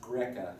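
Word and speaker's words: Grzeca: That's pronounced Greca.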